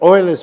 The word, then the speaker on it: Euler: So all the numbers that Euler couldn't do, apart from 6, they managed to do. And so they're called the Euler spoilers, which is a good way of reminding students how you pronounce Euler's name.